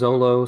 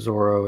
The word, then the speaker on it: Zoro: Well, it's it depend like sometimes it's Zolo, sometimes it's Zoro. It depends on depends on the pronunciation.